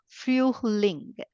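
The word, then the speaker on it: Frühling: I read it as u umlaut, so it becomes fueling.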